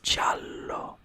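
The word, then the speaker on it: giallo: Chalo this right here is not yellow it's jalo there isn't no h and you're never gonna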